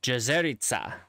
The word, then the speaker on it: Jezerica: However, in Slovenian specifically, which is where these names come from, the C is actually pronounced with what I would call just a TS. So it's not Hornica, it's Hornica. And Jezerica, Jezerica.